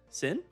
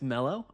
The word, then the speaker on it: D Mellow: Normally people say it wrong. Sin. It's Melo.